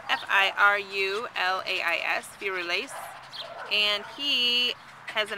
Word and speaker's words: Firulais: All right, everybody, this is Firulais. That is spelled F-I-R-U-L-A-I-S, Firulais.